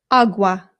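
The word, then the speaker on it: agua: Again, the a makes an a sound. There are some British people, including people in my own family, who say awa, and it is not correct. Please don't say it that way if you're trying to speak Spanish. It's awa. Awa. Good.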